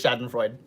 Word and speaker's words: Schadenfreude: Oh, I did pronounce it right. Okay, it is Schadenfreude.